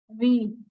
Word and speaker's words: ऋ: री, इसको री प्रोनाउंस करते हैं बेटा, री से ऋषि।